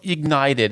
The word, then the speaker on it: IGNTD: So Ignited, it's spelled IGNTD.